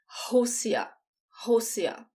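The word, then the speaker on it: Rússia: the country josiah so when the r is the first letter it sounds like the age in english and the two asses just sound like s housia russian the language or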